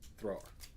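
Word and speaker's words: Thrór: the legendarium of thror there's an accent on the o thrower uh because i don't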